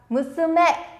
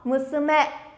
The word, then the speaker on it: 娘: Sẽ đọc là Musume. Mình nói sang sẻ nó. Musume. Musume. Ở đây thì âm sư không có vô thanh nên các bạn cứ đọc mạnh thoải mái.